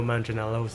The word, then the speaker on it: Manganiello: Against Joe Manganiello's Deathstroke, that'd be pretty sick. How do you pronounce his name?